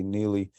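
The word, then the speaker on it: Nxele: remember how next neely i want to say nearly to spell nx e-l-e zealy how they say it died in the aftermath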